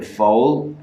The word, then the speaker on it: fóill: And then the O in fóill has we call it a fada. That's how you say accent in Irish, a fada. So it changed that O into O. Pronounce it as O.